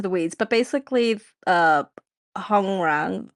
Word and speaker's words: Hongrang: So, the I don't want to get too too into the weeds, but basically uh Hong Rang, how you say his name? Hungrang.